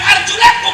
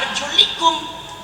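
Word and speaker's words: أرجلكم: Kata Imam Hanafi, bukan arjulakum, membacanya apa? Arjulikum.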